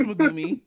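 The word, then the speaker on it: Mumei: in throughout the community mumi or what however you say her name no it's mumi you're you're right the second time but no um so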